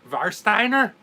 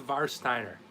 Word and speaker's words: Warsteiner: Chuck Pilsner all right instead of war save our w is there are pronounced with the vow of oh so what are you telling me there Greg are you telling me this is var Steiner does this called var Steiner all right well no